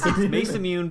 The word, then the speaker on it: Masamune: It's Masamune because it is a Western fantasy game. That's how you would pronounce the word, unless they give me some indication that it's Japanese, which they never do.